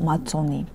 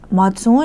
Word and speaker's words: Matzon: On le trouve aussi en Géorgie sous le nom matzoni. Matzon est utilisé en Arménie orientale. Matzon, prononciation typique de l'Arménie occidentale.